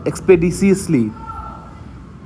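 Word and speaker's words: expeditiously: उसका एक्सपेडिटियसली, डी टी नहीं है, और डिसियसली है, एक्सपेडिशियसली। एक्सपेडिशियसली, एक्सपेडिशियसली याद रखिए, एक्स पे डी सी असली, ये असली है, असली, एक्सपेडिशियसली, एक्सपेडिशियसली है इसका प्रोनाउंसिएशन, स्थिरता से, विलंब से, क्विक, प्रॉम्प्ट, रेडी, रेपिडेटली।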